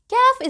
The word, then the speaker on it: Kaf: Kaf is pronounced just like the letter K in English.